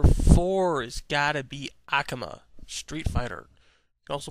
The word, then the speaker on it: Akuma: him okay number four is got to be Akama Street Fighter also pronounce it Akuma I like this guy mainly the same reasons